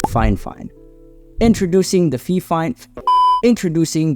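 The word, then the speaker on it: FIFINE: try and pronounce their company name it's apparently pronounced fine fine introducing the fif fine introducing the fine fine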